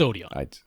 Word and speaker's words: Odeon: what did I say? Odin? You said Odin. Whatever. It's Odeon. Odeon.